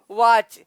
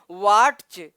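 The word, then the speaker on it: watch: वॉच। लेकिन वॉच यहाँ पर टी वर्ण लिखा है, टी का उच्चारण नहीं हो रहा है। वो अगर टी का उच्चारण करें तो क्या पढ़ा जाएगा, वाटच।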